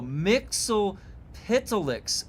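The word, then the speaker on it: Mxyzptlk: Oh, Mixel Pitilix.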